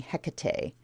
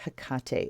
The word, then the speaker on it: Hecate: here you hear a lot of people saying Hecate but the pronunciation is Hakata and there she is with her staff and